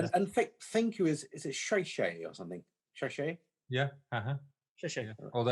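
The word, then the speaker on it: 谢谢: and thank you is it shay shay or something? Shay shay? Yeah. Yeah. Although I'm told, Paula tells me I've always pronounced it wrong, so I'm not going to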